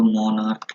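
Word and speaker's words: monarch: जैसे कि मान लो मोनार्क लिखा है, मोनार्क लिखा है, ये का साउंड दे रहा है, मतलब यहाँ पे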